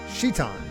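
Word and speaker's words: Citan: Is it Seaton or Seiton? I've always said Seaton, but I want to make sure I'm saying it right. Shiton. I never would have guessed Shiton. I've also seen Satan from Jason Rocks. Okay, Shiton.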